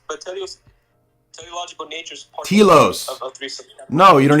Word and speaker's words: telos: It's telos, not teleos. You're not even saying it right.